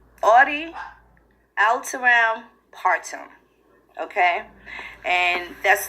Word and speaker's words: audi alteram partem: So the first one is called audi alteram partem, okay? And that's 3 words, and it's spelled AUDIALTERAM PARTEM, okay?